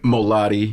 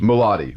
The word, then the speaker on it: Molodi: Am I pronouncing that right? Mulattoi. Mulattoi.